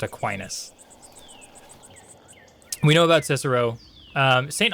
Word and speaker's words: Aquinas: It's Aquinas. It doesn't look like it should be Aquinas because that's a dumb way to say anything, but I think it is actually pronounced Aquinas.